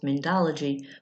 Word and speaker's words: Mindology: Mindy that you see here, and I'm the president of a nonprofit corporation called both Mindology, which is pronounced like my name, and the United States of Beings.